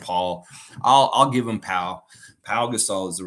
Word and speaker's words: Pau Gasol: It's spelled correct, but it is Pau Gasol. Of course it's Pau Gasol.